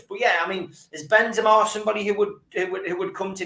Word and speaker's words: Benzema: Do you think Benzema might fancy coming to us, or Benzema, as he should be pronounced?